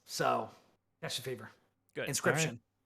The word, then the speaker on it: Inscryption: Inscryption. Inscryption spelled like inscription, like a scribe would do, but with a Y in the middle instead, so that the middle of the word says crypt.